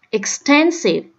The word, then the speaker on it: extensive: Chỉ có cái câu C này đọc là extensive, tức là nó nhấn vô cái âm thứ hai. Extensive, nhấn vào âm thứ hai.